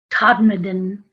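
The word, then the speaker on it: Todmorden: you because it's not spelled the way it's pronounced it's t o d m o r d e n todd madden and it's in yorkshire and i was there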